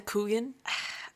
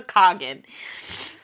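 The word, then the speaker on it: khagan: the king of antia is called the kogan which like like the dessert like okay uh it become like I don't know like the kugan like I get she wants to Cherry kugan no it's a Cogan so the Cogan and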